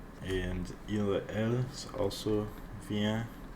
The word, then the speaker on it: viens: And il, elle, is also viens. They're pronounced the same, even though there's an S and T at the end.